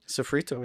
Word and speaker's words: Soffritto: So, you are the owner of Let me make sure I get this pronunciation. Is it Sophrito? Sophrito.